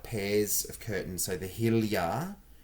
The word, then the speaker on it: Hilja: So the Hilja it's spelled Hilja, but it's pronounced Hilja, is $25 for a pair.